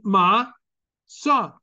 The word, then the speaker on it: matzah: And the tzadi that comes next is attached to the next vowel sound. Ma-tzah. Matzah, matzot. There's no shva involved.